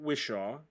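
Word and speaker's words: Whishaw: bear is voiced by ben wishaw or am i pronouncing his last name correctly i believe so yes for sure ben wilshere yeah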